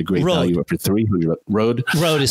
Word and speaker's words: Rode: Rode. Rode is how they pronounce it.